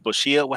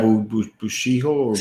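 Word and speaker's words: Bishoujo: But you know the girl statues that they have, the Bushiya? How do you say that? Yeah, Bushiho.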